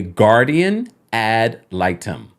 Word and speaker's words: guardian ad litem: now Kroy is Seeking a look let me pronounce this correctly a guardian ad litem there we go I always got that one